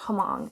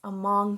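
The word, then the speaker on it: Hmong: It's not Hamong, it's Among Child, her American doctors, and the collision of two cultures.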